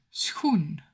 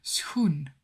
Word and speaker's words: schoen: De schoen. En de schoenen. De schoenen. 1 shoe, 2 shoes. The SCH in Dutch is pronounced as sch. Sch. So it's basically the S sound and the G sound combined.